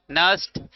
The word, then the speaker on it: Nernst: अच्छा, इसको क्या बोलोगे, NERNST, तो क्या बोलेंगे, नस्ट। न न आगे सांप बीच में मिला लिया और टा, और बीच वाला सांप साइलेंट, है कि नहीं, नस्ट इक्वेशन।